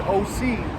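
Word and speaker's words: Osee: Now, when you look at that word OC, that's the Greek pronunciation of Hosea.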